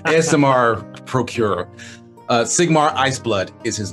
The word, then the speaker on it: Aasimar: It's pronounced ASMR. ASMR procurer.